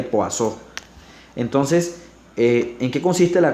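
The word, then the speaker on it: Poisson: la ecuación de corazón que se escribe poison pero se le pasó entonces en qué consiste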